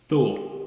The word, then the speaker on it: Thor: Okay, Thor. We're gonna pronounce our T's and H's correctly.